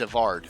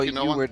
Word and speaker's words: Evard: Isn't that spelled with W? That's Evard. Evard's Black Tentacles. Oh, Evard's Black. Yeah, okay, it's Evard. Gotcha. Yeah, it's yeah, Evard. I just saw Eward and I was like